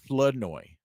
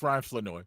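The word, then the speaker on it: Flournoy: You got to drop the R. Floodoy.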